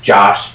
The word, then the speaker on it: Jash: That his name's Josh, but it's spelled Jash.